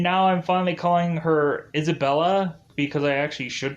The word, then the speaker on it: Isabella: actually Isabella all along, and they pronounced it Isabella, but I've been calling her Isabel this whole entire 5 episodes, so mistakes were made.